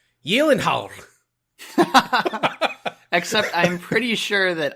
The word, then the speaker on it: Gyllenhaal: half Swedish and so the actual legitimate correct way to pronounce his last name is like yelling holler except I'm pretty sure